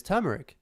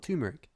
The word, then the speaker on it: turmeric: I haven't picked it up no but is turmeric not tumeric no no I think the whole point is